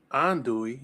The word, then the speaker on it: andouille: and what are you gonna do with the andouille is the way it's pronounced and that's not what that is okay